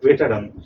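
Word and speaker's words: veteran: কি ওয়ার্ড সেটা কি ভেটরান ভি টি আর এন বানানটা কিন্তু খেয়াল রাখবে ভি টি ই আর এন ভেটেরান উচ্চারণটা কি ভেটের ভেটের ঠিক আছে তো ভেটেরান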